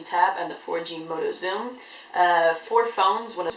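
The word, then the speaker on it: Xoom: thing released today was the motorola zoom spelled with an x um anyways this is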